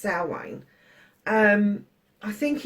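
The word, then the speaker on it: Samhain: you don't know halloween for witches is called salway and it's spelt s-a-m-h-a-n but it is pronounced salwin um i think it's a celtic spelling which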